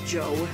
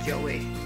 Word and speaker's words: Joe: And Naoto's new name is Joe, not Joey, Joe.